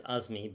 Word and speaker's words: Azami: My parents are Bangladeshi, so we say Azami. Yes. And sometimes Azmi, but it's a va in Arabic.